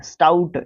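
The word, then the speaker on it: stout: स्टाउट क्या होता है, स्टाउट एक शाउट होता है, SHOUT, शाउट, इसका मतलब चिल्लाना, स्टाउट इसी के जैसा प्रोनाउंसिएशन है ना।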